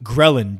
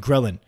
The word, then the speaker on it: ghrelin: body to do there is a hormone called ghrelin GH r e li and ghrelin i believe that's how you pronounce it and this is responsible for causing